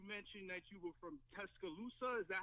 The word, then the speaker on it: Tuscaloosa: Now, you mentioned that you were from Tuscaloosa. Is that how we say that? Yeah, you saying it right, Tuscaloosa.